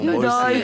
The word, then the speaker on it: Momboye: Mon boy, tu vois. Ça fait Non, sénégalais. mais c'est parce qu'ils ont mis mon, sinon c'est mon boy. Ah, la vraie prononciation, Mumbai.